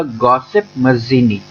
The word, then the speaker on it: Giuseppe Mazzini: थे, उनका नाम था गॉसिप मज़ीनी। ठीक है, इनके नाम के प्रोनाउंसिएशन में बहुत प्रॉब्लम होता है बहुतों को। ठीक है, मैं आपको फिर से बता देता हूं, इनका नाम था गॉसिप मज़ीनी।